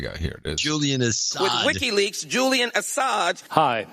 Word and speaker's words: Assange: Hillary losing, and then she has this interesting mispronunciation of Julian Assange. Oh, yeah. This is Julian Assad ISO. With WikiLeaks, Julian Assange.